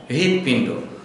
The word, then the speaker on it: হৃদপিণ্ড: দিচ্ছি হৃদপিণ্ড পিণ্ড হৃদপিণ্ড হৃদপিণ্ড না সরাসরি র দিয়ে আমরা উচ্চারণ করবো না হৃদপিণ্ড র এবং হ এর উভয়ের সংমিশ্রণে উচ্চারণটি করতে হবে তাহলে আমরা দেখতে পাচ্ছি